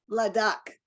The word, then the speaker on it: Ladakh: Ladakh. Ladakh, India. So you say it. Go ahead. Bright blue. Yeah. Bright blue, like the endless skies in Ladakh, India. Awesome. Like the endless skies in Ladakh, India.